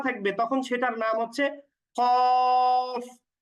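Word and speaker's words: قاف: তখন সেটার নাম হচ্ছে কফ কফ টেনে উচ্চারণ করব আচ্ছা এরপরের হরফটার নাম হচ্ছে কাফ খেয়াল করেন আগে যে হরফটা আমরা পড়লাম এই যে এই হরফটা এটার নাম হচ্ছে কফ একটু মুখ গোল করে আর পরে যেটা পড়ছি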